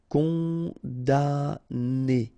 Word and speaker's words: condamné: Condamné, okay, so it's really strange because this M here, well, technically it's not pronounced. Condamné, okay, condamné.